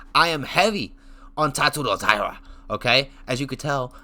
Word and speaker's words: Tatsuro Taira: I am heavy on Tatsuro Taira. Okay? As you could tell, I say his name correctly. I pronunciate it correctly.